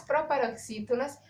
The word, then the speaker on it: proparoxítona: Então, uma coisa bem interessante é porque as proparoxítonas é um exemplo. A palavra proparoxítona é uma palavra proparoxítona. Entendeu? Ó, proparoxítona. A sílaba tônica da palavra é a antepenúltima.